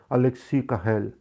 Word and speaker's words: Alexis Carrel: l a Alexis Carrel mas se pronuncia por ser francês Alexis Carrel e e era teu